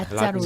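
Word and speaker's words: Λάζαρος: 이 라짜르를 헬라식으로 하면은 라짜로스가 됩니다. 라짜로스. 라짜로스.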